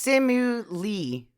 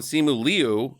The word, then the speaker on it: Simu Liu: His name is Simu Lee. Well, that was helpful. Simu. Jackie, I said there's things around Simu Liu.